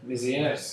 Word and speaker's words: Mézières: Mézières, did you say?